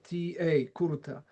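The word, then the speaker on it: Curta: But if you want nitty-gritty details of this theory, I recommend to go to the writings of Florian Kurta, yeah, spelled with C-U-R-T-A, Kurta.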